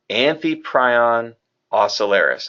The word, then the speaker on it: Amphiprion ocellaris: So the correct way to say in the scientific naming of the Ocellaris clownfish is Amphiprion ocellaris.